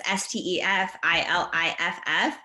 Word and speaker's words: Stefhanie Iliff: It's spelled super weird, but it's Stefilliff.